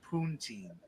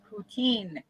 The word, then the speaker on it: poutine: waited three hours in line just to have poonteen yeah routine i think is how you say oh whatever poontang how's that i have no idea um you don't know what puntine is no poutine poutine i pronounce it rob so uh better